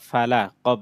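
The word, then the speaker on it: فلق: যখন বানান করেছি তখন টি সহ পড়েছি, আবার মিলিয়ে পড়ার সময় যখন একসাথে বানান ছাড়া পড়েছি তখন ফালাক, এটা শেষের অক্ষরটা সাকিন হয়ে যাবে।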